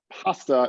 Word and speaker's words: PHASTA: than everybody else's so i like pasta a lot so uh that's the way i pronounce it but you can you can call it what you like okay so an outline